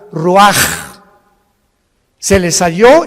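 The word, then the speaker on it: רוּחַ: Y exhaló Isaac el Roach. Así como suena, se pronuncia la CH en hebreo como J, Roach.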